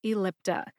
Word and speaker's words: Ellipta: Lip, like you have lips on your face, and ta, like tub. Put that all together and you get Incruse Ellipta. I think most people just call the brand name Incruse and drop the Ellipta, but just in case you need to learn how to say both, you have learned them both today. Emphasize in for Incruse and lip for Ellipta.